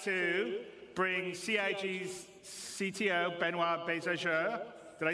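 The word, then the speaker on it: Benoit: waffling on I'd like to bring C's CTO benoir bz did I say it right benoir yeah okay good I'm always bad with surnames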